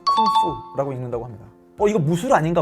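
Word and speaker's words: 工夫: 자, 그러다 보니 공부를 중국어 발음으로는 쿵푸라고 읽는다고 합니다.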